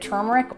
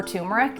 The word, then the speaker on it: turmeric: this golden milk also you can pronounce it turmeric or tumeric and I'd love to hear in the comments which you prefer because I hear people using both and they're both right so let's get started